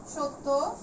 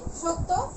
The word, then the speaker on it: সত্য: তো জফলা দিয়ে লিখলেও সত্য, এটা উচ্চারণটা হয় কি তয়ের দ্বিত্ব।